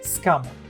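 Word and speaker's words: Sukamon: at the end of a sentence so it's pronounced scammer i did find one source which claims it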